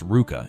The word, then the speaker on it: RVCA: When Pat Tenor founded RVCA, pronounced RVCA, in 2001, he set out to create something beyond just another clothing brand.